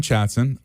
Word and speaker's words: Chatson: No, so the way you spell it is like chat soon, right? One of the O's is silent. Yeah. Pick whichever one you want. It's pronounced chat soon with a double O. Yeah, like we'll chat soon. Like a saloon. Like let's chat soon.